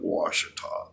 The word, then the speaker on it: Ouachita: down at Lake Ouachita which they spell okay to to the Indians fiducia obviously pronounced at Washita okay big huge beautiful